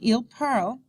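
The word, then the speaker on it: parlent: that IL parl and IL parl plural sound the same okay remember that the ENT ending is silent note the when the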